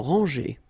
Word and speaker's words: rangée: Final E and final S are not pronounced. Des maisons en rangée.